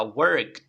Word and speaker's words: worked: worked okay pronunciación bueno la pronunciación va a terminar en t Okay vamos a practicar